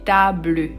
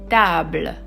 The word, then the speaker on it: table: So you don't say table. No. We say table. Again, table.